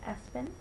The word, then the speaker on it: ESPN: went out there um the next one is ESPN um pronounced Espen Malachi maau now Malachi